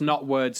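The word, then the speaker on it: Knotwords: Sagrada so that's that's not words spelled with a silent k at the start yes uh k-n-o-t-w-o-r-d-s it's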